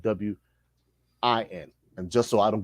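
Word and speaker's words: Nguyen: that is a Vietnam Vietnamese name and it's pronounced when okay correct Gavin so I explained to him I said that win play for the Dallas Cowboys linebacker number 59.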